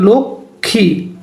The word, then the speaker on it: লক্ষ্মী: শব্দের প্রমিত উচ্চারণ কোনটি লক্ষী শব্দের প্রমিত উচ্চারণ হচ্ছে লক্ষ্মী লক্ষী এরপর হচ্ছে প্রমিত উচ্চারণের